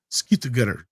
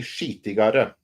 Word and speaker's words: skitigare: Season 2 will be skittigare. Did I say it right this time? Not quite. It says season 2 will be skitigare.